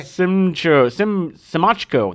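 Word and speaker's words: Siemaszko: debuts of Andrew McCarthy, Virginia Madsen, and Casey Shemechko. Is that how you say his name? Semechko. Yeah. Semachko.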